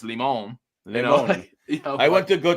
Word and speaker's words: Limon: And they say Lyman, but it's Limon.